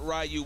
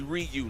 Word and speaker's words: Ryu: We got Rayu. We got excuse me, Ryu.